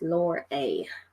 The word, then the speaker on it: Lorelei: It's Lorelei. So I've got it written the way I can pronounce it in the book.